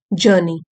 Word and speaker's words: journey: आज हम एक पैसेज पढ़ेंगे जिसका टाइटल है लाइफ्स जर्नी। जर्नी मीन्स यात्रा, आर साइलेंट है, जर्नी यात्रा, और लाइफ्स यहाँ पे अपॉस्ट्रोफी लगा हुआ है, पोजेशन बताता है जीवन की यात्रा।